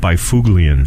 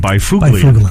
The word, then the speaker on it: Byfuglien: who the defenseman with Winnipeg spells his name B Y f ug l ien it looks like by fuglie n' okay in fact during a preseason game several